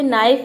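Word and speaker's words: knife: मतलब होता है केहु नी अगला वर्ड है नाइफ यानी कि चाकू नौक मतलब होता है खटखटाना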